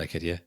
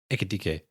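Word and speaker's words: Ekitiké: No not eetik. Ekit. Yeah echik. That's actually a fun name to say when you say it right.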